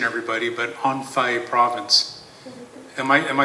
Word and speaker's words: Anhui: merchants from now pardon my pronunciation, everybody, but Anhui province. Am I saying it right? Thank you so much, Winnie. Okay. From Anhui province, and he was from part of the upper echelon class of people.